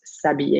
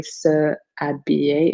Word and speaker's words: s'habiller: over the screen, s'habiller, and that's because the H is silent, so it's pronounced s'habiller. You cannot say se habiller, it does not make sense.